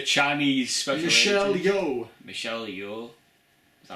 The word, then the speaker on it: Michelle Yeoh: Michelle Yeoh. Is that how you pronounce it? Yeah, Michelle Yeoh.